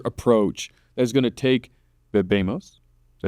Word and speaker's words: bebemos: So what is it that you think differentiates your team, your approach, that's going to take bebemos? Did I say it right? Yeah, bebemos.